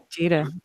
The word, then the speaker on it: Gita: Yeah, hard G. Gita.